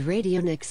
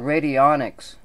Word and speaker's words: radionics: Albert Abrams radio Nick's you can't even pronounce it right I mean I may not be for this stuff but at least give him the courtesy to pronounce it right it's called radionics 1864 to 1924 who